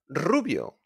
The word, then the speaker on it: rubio: Rubio. Blonde. Rubio.